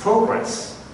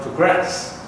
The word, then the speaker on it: progress: Take progress as an example. If it is a noun, it's progress. If it's a verb, we put the stress on the second syllable. So it's become progress.